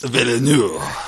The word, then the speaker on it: Denis Villeneuve: But I think that the new one, Denis Villeneuve, is that how you pronounce it? A little more French, please. Villeneuve.